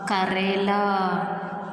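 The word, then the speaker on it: करेला: So, Ka, Re, La. Karela.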